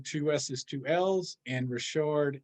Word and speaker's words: Richard: two S's, two L's, and Richard is spelled just like Richard. I'm a Louisiana guy, so it's the French pronunciation.